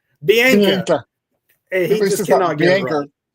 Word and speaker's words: Bianca: 100% of the time it's Biana. Bianca and he just cannot